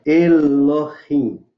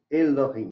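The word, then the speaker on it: אֱלֹהִים: O Aleph não se pronuncia, mas ele está assinalado como E. E o El, Elohim, Elohim.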